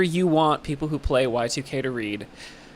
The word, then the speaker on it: YIIK: Because it kind of just became like I mean, we're aware that it's spelled with two I's. Like, yeah. Yeah. It's on purpose, you know. It's said Y2K, but a big part